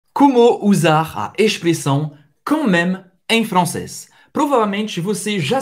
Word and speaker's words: quand même: A-N em francês, c'est o som do en, ok? En. O D é mudo. Même, même, ok? M e com acento circunflexo. M-E. Même acaba no M. Ou seja, a pronúncia quand même.